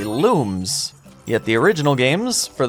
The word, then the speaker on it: Lums: one thousand there's thousands the Rayman Origins website once clarified that the pronunciation of Lums is actually looms yet the original games for those which were dubbed pronounce them as Lums a silver lum it